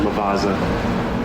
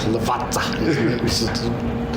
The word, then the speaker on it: Lavazza: up at the market, how many people pronounced it Lavazza? Yeah, Lavazza. I still pronounce it wrong too. My cousin drives me nuts. He's like, it's like pizza.